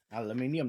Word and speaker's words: aluminium: and it's a 6061 aircraft grade Al aluminium aluminium that's how you pronounce it aluminium so the reticle is a